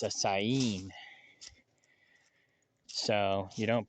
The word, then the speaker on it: Saanen: I'm thinking I'm just gonna go with, I call it the Saanen, but I guess the first N is silent. I found that out last night too. It's not a Saanen, it's a Sayin.